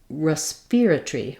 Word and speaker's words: respiratory: and that sounds like respiratory respiratory um um uh and then also instead of Tori they and they pronounce it with tree so they reduce the Tory those two syllables to one syllable um respiratory respiratory um